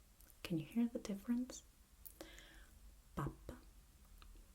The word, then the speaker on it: pappa: Pappa, papa, pappa, papa.